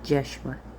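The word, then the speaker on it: Yeshua: him across the way Joshua would not have been pronounced Joshua and there it would have been pronounced jeshua just so you understand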